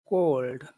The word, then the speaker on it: cold: number one is it cold cold cold say number two is a called it's called Muhammad can you say number one uh called say number one cold cold cold cold co cold